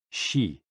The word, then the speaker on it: Xi: which is associated with the spleen and XI pronounced like she which connects the whole body the following poem